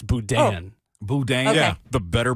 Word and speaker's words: boudin: By the way, apparently I mispronounced Boudin. It's Boudin.